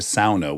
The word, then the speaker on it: sauna: pronounce it SAA cuz we say sauna but I had a girlfriend whose father was finnished and he said it's a SAA we invented it it's SAA a sauna a SAA well say you could